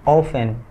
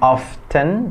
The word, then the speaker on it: often: often sebenarnya often itu timnya nggak dibaca jadi oven ya dibacanya oven oven bukan often tapi oven oven cek about in the morning